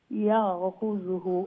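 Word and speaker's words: يأخذه: ইয়াখুযুহু ইয়া ঠিক আছে ও যে খার পরে যে জাল জালের উপরে পেশ উচ্চারণ করবা খুযু নাই খুযহু ইয়াখুযুহু আদুউল্লি আদুওয়াল ওয়া আদুউল্লাহ যে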